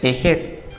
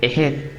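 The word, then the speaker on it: Heget: La rana representaba a la diosa Ejet, H-E-G-E-T, Ejet.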